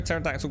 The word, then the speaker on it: pterodactyl: can't you hear a pterodactyl go to the bathroom because the p is silent i like that